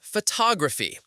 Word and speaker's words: photograph: Think about the word photography. We say photograph. The stress is on the first syllable.